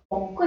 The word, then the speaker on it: 먹고: Now two G's are coming together in this case. Pronunciation would be 먹고 싶어.